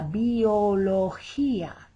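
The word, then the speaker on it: biología: one biology la biolo here that g is soft because it's followed by an i la billo and there's our accent on that final a la biologia and the g is just about adam's apple right there in the middle of your throat accounting many of us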